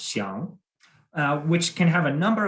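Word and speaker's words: 想: For example, he explained to me the Chinese character, which in Mandarin is pronounced xiang, which can have a number of meanings.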